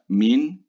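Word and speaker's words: Maigne: Another important differential diagnosis is the Mean syndrome, the G is silent here, or thoracolumbar junction dysfunction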